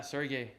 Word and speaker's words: Sergey: Sergey, yeah, Sergey. Actually, that's how you pronounce it.